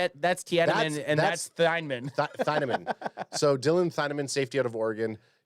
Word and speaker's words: Thienemann: It's just Thienemann. Are you sure? I thought it was Tiedemann. No, it's Thienemann.